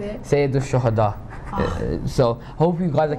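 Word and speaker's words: سيد الشهداء: Sayyid al-Shahada, Shaheed.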